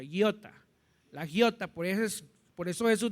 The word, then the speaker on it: iota: Iota, así se pronuncia, iota.